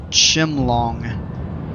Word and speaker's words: Chimelong: It's pronounced Chimlong, so you were close. The E in Chimelong. Chimlong is silent.